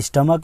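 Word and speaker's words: stomach: एम ए सी एच, तो स्टमक में देखिए सी एच लास्ट में आ रहा है लेकिन इसका उच्चारण जो है क निकल रहा है, तो इसका स्टमक्स हो जाएगा, ठीक है, ये रहा।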